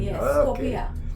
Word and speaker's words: Skopje: yes Scopia Scopia scoria okay that's the correct pronunciation Scopia Kosovo in the distance T tank no